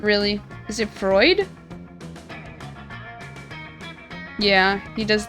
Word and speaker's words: Freud: Freud? Frood? Why am I saying Frood?